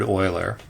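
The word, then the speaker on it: Euler: being one of the first teachers of Leonard Oiler who I talked about in a different video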